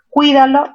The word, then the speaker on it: cuídalo: Cuídalo, ¿dónde tiene mayor fuerza? En la sílaba cui.